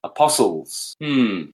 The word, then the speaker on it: apostles: Silent T is very telling. Apostles. Very clever English.